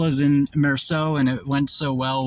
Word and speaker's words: Meursault: if you're gonna, because the L is silent in French, right, for that word, but the L might